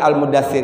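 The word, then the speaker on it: المدثر: berselimut ya ayyuhal Al Muzammil dan Al Mudatsir ini al-muzzammil dan al-muddassir ini rata-rata banyak orang salah dalam membacanya itu di huruf tasydidnya contohnya ya ayyuhal Mudatsir bukan ya ayyuhal Mudatsir sama juga ini Mus zanya tasydid mimnya tasydid lagi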